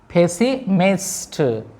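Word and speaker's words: pessimist: इसको पढ़ते हैं पेसिमिस्ट। पेसिमिस्ट पी है तो इसको फ पढ़ेंगे, एच का साउंड इसमें शामिल होता है, फ। पेसिमिस्ट, पेसिमिस्ट एक एस हम साइलेंट करते हैं, पेसिमिस्ट, पेसिमिस्ट।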